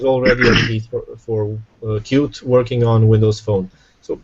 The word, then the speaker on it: Qt: a software framework called cute uh you'll very often see this uh identified with QT people very often call it QT but it's pronounced cute was originally developed by